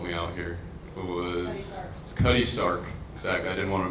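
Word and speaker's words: Cutty Sark: It was Cuddy Sark. Exactly. I didn't want to mispronounce it.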